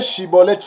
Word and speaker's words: Shibboleth: pour mes frais limites voyez il a questionné prononcé shibboleth fraser nous sommes dans les temps que nous